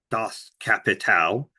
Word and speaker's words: Das Kapital: That's not even how it's pronounced. Das Kapital.